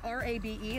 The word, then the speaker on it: rabe: Although it is R-A-B-E, it's pronounced rabe.